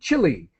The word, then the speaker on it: Chile: because I live in the country Chile is how we pronounce it in English chile in their capital city